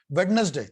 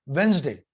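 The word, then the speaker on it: Wednesday: तो वहां पे पूछते कि हाउ टू प्रोनाउंस वेडनेसडे, और इट्स नॉट वेडनेसडे, इट्स वेंसडे, हाउ to pronounce वेडनेसडे, वेंसडे, ऐसे।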